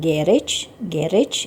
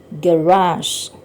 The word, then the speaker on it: garage: Selanjutnya, garasi, bacaannya bukan garage gitu ya, tapi garage.